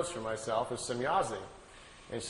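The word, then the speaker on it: Semyase: Well, Billy was trying to make his notes and was trying to write it down phonetically how the name sounded to him. So he wrote it out, S-E-M-Y-A-S-E, Semyazi.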